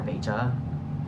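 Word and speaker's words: Veja: are a pair of vas or vea um which is how it's pronounced but I like saying VAB better I do have a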